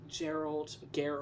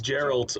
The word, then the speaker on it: Geralt: Geralt. It's like... It's Geralt, because that's the Is that Polish pronunciation.